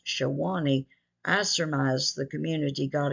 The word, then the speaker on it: Sewanee: Although it is pronounced Sewanee, I surmise the community got its name from the Shawnee Indian tribe.